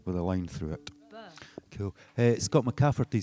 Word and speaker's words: Bø: I went to a place called Bø. Bø? Yeah. Which is brilliant. Amazing trains. Trains. Yeah. Okay. Bø trains. And it's spelt B-O with a line through it. Bø.